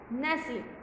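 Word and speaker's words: nestle: और है नेस्ले, नेस्ले में क्या है, नेस्ले में टी साइलेंट है और ई भी साइलेंट है।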